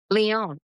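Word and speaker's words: Lyon: And you also had experience of living abroad in how do you pronounce it? Is it Leon, France? Leon.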